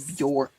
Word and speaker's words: Björk: They pronounce Björk instead of Björk.